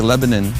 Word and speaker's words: Lebanon: Friday where are we it's spelled Lebanon but here they say Lebanon Tennessee hey Sammy a couple